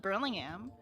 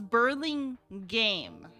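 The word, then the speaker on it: Burlingame: uh oh that's how the city's name is pronounced I I'm assuming so I don't know actually I just call it Burlingham Burling gam Burling game I don't know but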